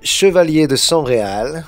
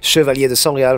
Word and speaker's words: Chevaliers de Sangreal: And I chose Chevalier de Sangreal. This is how we pronounce it in French, by the way. Chevalier de Sangreal from the Da Vinci Code.